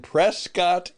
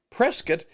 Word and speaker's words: Prescott: to be in and he mispronounced it. He said he was going to be in Prescott, Arizona. Well, I'm glad he's coming. And again, Prescuit is a really wonderful historical place